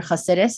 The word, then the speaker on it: Hasidus: And what was there a particular Hasidic sect or Hasidus is how you say it, in case you want to know the language. Sure, you don't say Hasidic, sure. You say Hasidus.